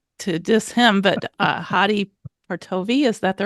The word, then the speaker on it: Hadi Partovi: another scholarly guy, not to diss him, but Hadi Partovi, is that the right pronunciation? Yep, that's correct. Hadi Partovi.